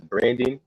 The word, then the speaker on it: Brndn: I've been listening to this guy named his name is Brandon, but it's spelled Brndn.